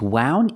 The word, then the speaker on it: wound: what is wound is wound even a word yes it is wound is spelled exactly the same but it's pronounced differently and it's the past of